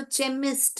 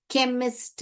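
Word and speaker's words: chemist: लिखा ख एमिस्ट केमिस्ट इसको अगर आप यहां पे गलती से च पढ़ोगे तो चेमिस्ट हो जाएगा। क्या हो जाएगा बेटा? चेमिस्ट हो जाएगा। आपको चेमिस्ट नहीं पढ़ना है। इसको क्या पढ़ना है? केमिस्ट पढ़ना है।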